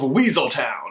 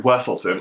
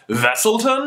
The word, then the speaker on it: Weselton: up to be the Duke of Weaseltown. Sorry, Wesselton. Although, actually, if he was really from Germany, don't you think he would pronounce it Wesselton?